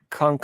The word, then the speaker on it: Cunk: watch Kunk on Earth.